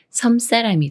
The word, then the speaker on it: 섬사람: 다음에 사람이라는 말이 와서 섬사람이 되는데요 섬 사람이란 섬에 사는 사람이에요 이렇게 미음 받침이 초성 시옷 만나면 쌍시옷 스리 인스로 바뀌면서 섬 사람이라고 읽어요 섬사람 섬사람 예문 읽어